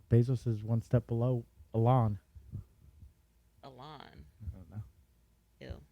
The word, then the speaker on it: Elon: Sometimes I hear people say Elon, and I was like, is that the right way to say it? And then his mom was on, and she said Elon. I was like, yeah, I always knew those losers were saying it wrong.